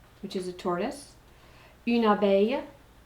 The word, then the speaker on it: abeille: Une abeille, there's another ILLE like a y sound. Une abeille, a bee.